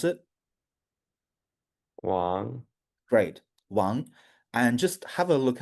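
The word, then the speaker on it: 王: And can you pronounce it? Wang. Great. Wang.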